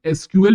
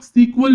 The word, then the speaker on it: SQL: कई बार सुने होंगे बहुत सारे लोग एसक्यूएल प्रोनाउंस करते हैं कुछ लोग सीक्वल भी बोलते हैं क्यों सीक्वल बोलते हैं